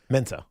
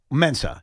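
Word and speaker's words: Adofo-Mensah: We mentioned this late last week, the GM of the Minnesota Vikings, and I want to pronounce his name correctly. Quiquo. Adopo. Mensah. Mensah.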